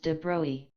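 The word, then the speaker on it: de Broglie: out as an aside that de broy is pronounced debris asterisk I've written a technical book suitable for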